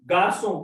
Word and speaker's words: garçon: So the pronunciation of C is say, but when we put this accent, it becomes so.